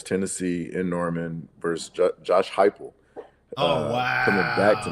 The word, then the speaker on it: Heupel: No, you said Heupel.